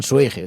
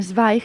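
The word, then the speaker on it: Zweig: que que para empezar Habría que ver cómo se pronuncia porque s porque la gente dice Stefan suig se escribe zw e i G Y entonces es como de estos autores que nadie sabe muy bien cómo se pronuncian pero que es una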